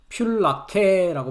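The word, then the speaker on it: φυλακή: 필라케라고 발음을 합니다.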